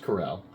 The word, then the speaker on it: Corel: Corel, man. Corel. Not Steve Carell, but just Corel.